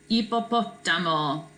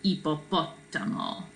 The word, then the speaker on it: hipopótamo: H is silent in Spanish. And then we have an accent on the O here, right? So it's el, kind of start here with I. El hipopótamo for hippo.